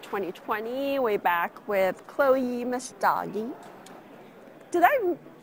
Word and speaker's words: Messdaghi: We're back with Chloe Mastagi. Did I pronounce that it right?